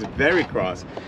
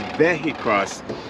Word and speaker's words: VehiCROSS: most people pronounce it most people think it's very cross it's veic cross it's like a vehicle crossover yeah very V and that's